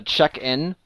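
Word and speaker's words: Chequeinn: undertaker's office there is a place called the check-in but it's spelled c-h-e-q-u-e-i-n-n and you realize that it actually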